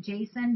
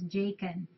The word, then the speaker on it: Jacen: fault and DA's fault it's jacen I was pronouncing it Jason but Tommy told me it's jacen with like a k sound a thank you everybody